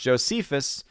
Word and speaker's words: Josephus: Hardwick says, Josephus, pronounced Josephus, was an ancient Jewish historian. Yeah, I mean, there's a couple different pronunciations there, but yes, I know who you are speaking of.